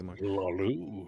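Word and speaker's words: Hlaalu: Is that the pronunciation you go with, V? Hey, how you doing, Bobby? Hlalu. Yeah, you honor the H.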